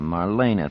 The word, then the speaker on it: Marlena: Marlena, Marlena, Marlena. 3 syllables, accent on the second.